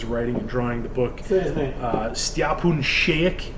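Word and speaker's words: Šejić: and drawing the book spoon shake is how you say his name it's weird he's Croatian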